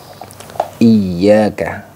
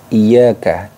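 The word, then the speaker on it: إياك: pertama yaitu pada kata iyaka nah pada kata iyaka Nah tasdid di sini tasdid itu cara membacanya ditekan teman-teman ditekan membacanya ya jadi ditekan membacanya jadi iyaka iyaka jadi jangan terlalu ringan iyaka nabudu waaka Nain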